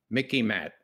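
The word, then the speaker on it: MICIMATT: easy to remember it it rhymes with mickey mouse okay it's the mickey matt the military industrial congressional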